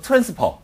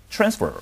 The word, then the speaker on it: transfer: 예를 들어서 트랜스퍼 하지 않고 transfer 이렇게 발음해야 돼요.